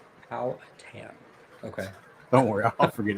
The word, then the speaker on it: Powhatan: Apparently, this is the correct pronunciation. Powhatan.